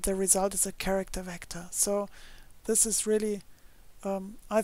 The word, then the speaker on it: vctrs: created a package called vectors i think you pronounce it vctrs so no vowels in that package name but i'd pronounce it vectors and there's a function